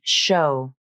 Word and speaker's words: show: like in the word show. But remember, the letters O and W are pronounced like the O diphthong, not the W consonant.